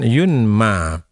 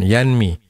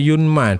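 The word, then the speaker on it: يُنْمَى: Di sini Ismail mengatakan yunma bukan yanmi. Kalau yanmi artinya si perawi itu mengatakan ee Abu Hazim ini mengatakan bahwa Sahal bin Sa'ad itu menisbahkan hal itu kepada Rasulullah. Tapi Ismail mengatakan membacanya tidak yanmi tapi yunma. Dinisbahkan hadis itu kepada Rasulullah. Walam yaakl yanmi. Bukan yanmi tapi membaca yunma.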